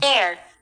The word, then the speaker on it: heir: Next, a person who inherits or has the right to inherit property গম পায় হেয়াৰে কয় ৰ'ব মই এইটো ঠিক কৰি দিছোঁ pronunciation Heir.